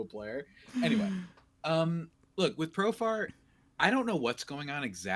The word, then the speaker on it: Profar: Profare, man. Profare. That's how I always say his name. I don't know why I add that to it. He's from Curacao, man. He's not from Italy. I don't know why I do that. I still don't know why I do that. I know how to pronounce his name.